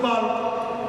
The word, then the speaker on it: chalk: মানে এলটা লিখতে হবে, উচ্চারণে আসবে না, ওটা উচ্চারণ থাকবে।